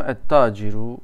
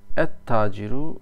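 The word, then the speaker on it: التاجر: Et-taciru, bakın. Et-taciru, okunuşu bu şekildedir. Yani lam okunmuyor.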